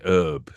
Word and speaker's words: herb: Actress was It's an English actress and she's saying, "What is it with you Americans saying herb? There's it begins with an H. You don't you don't say house."